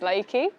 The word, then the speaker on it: LAKY: name it was like la KY pronounced Leakey and I'd already for